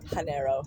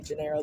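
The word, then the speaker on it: Genaro: Don Janeiro especially I'm not even pronouncing right. Hanero. Don Hanero. I say Janiro. That's how I pronounced it when I was 10.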